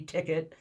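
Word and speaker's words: Tikt: product that you call ticket am i pronouncing it correctly yeah t-i-k-t ticket um you know i'm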